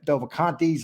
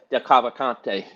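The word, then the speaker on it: DeCavalcante: And people will say, "Oh, the Delvacantes," or how do you say that? Del Cavalcante.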